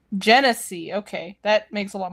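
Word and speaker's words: Genasi: I spelled pronunciation wrong. I see. Jennese. Genese.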